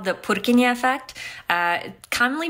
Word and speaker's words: Purkinje: there's something called the purin effect uh commonly mispronounced as the pereni effect though but it was named after the Czech anatomist of the same name and the whole reason